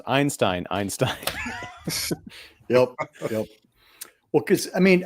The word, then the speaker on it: Einstein: It's pronounced Einstein.